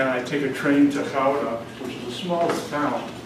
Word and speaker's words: Gouda: And how do you pronounce it? Gouda. No, that's the American way. The company was headquartered in that town, which I visited and spent a lot of time there. And it's pronounced Gouda. That's the Dutch way of saying that town.